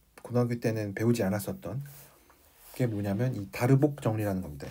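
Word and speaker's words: Darboux: 그러면 이제 제가 처음에 얘기하려고 했었던 이제 고등학교 때는 배우지 않았었던게 뭐냐면이 다르복 정리라는 겁니다. 이거를 어 다르라고 읽기도 하고 다르복이라고 읽기도 하는데 저는 뭐 다르복이라고 읽도록 하겠습니다.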